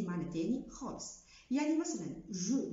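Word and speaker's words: je: اكزامبل جو، جو ما قلتش ج.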